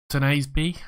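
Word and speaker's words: Tuanzebe: Squad-wise, as I said, someone was saying I was saying it wrong, and it's Tenasby. I'm terrible at saying these names. Tenasby, I'll go with that.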